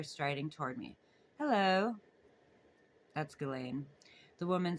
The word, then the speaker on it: Ghislaine: Ghislaine Maxwell, she says, pronouncing her first name Ghislaine. Ghislaine. Ghislaine. Ghislaine. It's Ghislaine. Oh, Ghislaine.